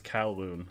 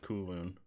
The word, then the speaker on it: Kowloon: still pronouncing kulun wrong someone yelled at me for last week that it's kowloon and i've been calling it cool moon coigulin just because wait